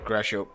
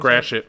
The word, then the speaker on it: Gratiot: So on October 12th, both Cam and I will be at the Gratiot Pub in Clinton Township. Okay. Is that how you And pronounce Gratiot.